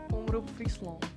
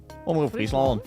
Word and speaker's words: Omroep Friesland: Omroep Friesland. Omroep Friesland.